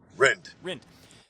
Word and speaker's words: Rind: Am I pronouncing that correctly? Rind or Rind? How do I pronounce that? Rind.